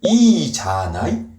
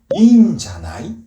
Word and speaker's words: いいんじゃない: 이거는 여러분도 발음 한번 해보시면 아실 텐데 이자나이, 인자나이 어떤 게 더 말하기 편하세요? 네, 인자나이가 더 자연스럽죠. 그래서 뭐 발음상 들어간 거라고 보시면 돼요.